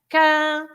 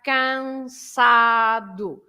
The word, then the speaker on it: cansado: the word like cansado, if you split the word, you have 3 syllables. You have cansado. So this sa is at the beginning of the syllable, right? So you have cansado. So you pronounce it as s as well.